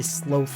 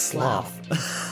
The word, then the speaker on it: sloth: other one which is some people say SLO people are wrong that one's just wrong it's I get where they're coming from because the word is slow no it's not it's sloth no it's like sloth here's the thing in